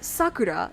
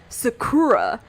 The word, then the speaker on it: Sakura: so instead of like Sakura it is Sakura and I'm like there are literally words in English and names in English that have the first syllable stress Oliver right and then